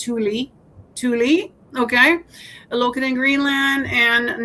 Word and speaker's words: Thule: And it'll tell you all the facts about what used to be the Thule Air Base, and now it's always pronounced Thule, okay, located in Greenland.